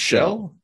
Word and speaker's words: Kjell: Oh, And that's pronounced It's pronounced Shell.